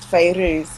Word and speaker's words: Fairuz: It's Fairuz, but it was spelt wrong on my birth certificate. So it's officially spelt Fairuz, but it's actually pronounced Fairuz.